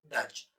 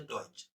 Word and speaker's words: Deutsch: Some people are say they are pronounced as Dutch, but it's not a Dutch. It's a Deutsch because we use as DUI.